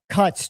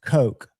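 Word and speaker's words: Koch: And um little uh Cotch Tools. I think they're pronounced Coke. K O C H is how they're spelled.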